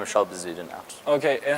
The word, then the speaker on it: Schalk Bezuidenhout: Hi everyone, today this is a special interview in English and we are pleased to welcome Schalk Bezuidenhout. Yes. Is it the right pronunciation? That was perfect for, where are you from?